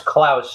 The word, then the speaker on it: Klaus: what you mean that's uh that's how you pronounce Klaus uh what was his last name what did